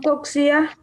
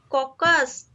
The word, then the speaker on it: coccus: One coccia, ma'am. Coxia? Coccus.